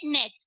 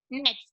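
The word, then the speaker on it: gnats: Here G is silent. So we'll read it nets. Okay, pronounce it nets.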